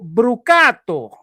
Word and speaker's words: Brucato: who who you your name came up properly pronounced by by Steve Concalves, who I spoke with. He calls you Brucato.